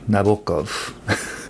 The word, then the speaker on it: Nabokov: the eye by Vladimir Nabokov or as I learned from some Russian-speaking friends Vladimir Nabokov. You emphasize the often Russian I guess you emphasize the second syllable or something.